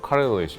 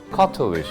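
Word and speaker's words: cartilage: 미국식 영어는 뭐 카릴리지 약간 이렇게 하죠. 딱 그때 이제 영국식 발음으로 약간 카틸리지 하는데 너무 고급스럽고 되게 발음이 좋았었어요.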